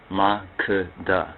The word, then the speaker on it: Makeda: Makeda, that's the proper pronunciation. So I know some would pronounce the name as MAKEDA, but most of those speakers who pronounce it as MAKEDA most likely are not Amharic or Ethiopian speakers.